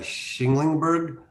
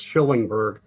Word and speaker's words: Schillingberg: Schinglingberg. I hope I'm pronouncing that correctly, Mr. I see you there, Mr. Schinglingberg, correct? No, well, yeah, but I get that all the time. It's Schillingberg.